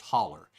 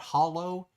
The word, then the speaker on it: hollow: it's spelled h l l w but it's pronounced holler if you pronounce that Hollow you'll get kicked out of anywhere that you're